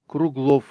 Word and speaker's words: Kruglov: Kruglo. Kruglo. Kruglo. That's how you say his last name.